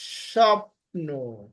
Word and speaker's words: স্বপ্ন: যা না আসলেও তাই স্বপ্ন স্বপ্ন বফালা যদি প্রথম অক্ষরের সাথে থাকে তাহলে বফালার উচ্চারণ হয় না বফালার উচ্চারণ হয় না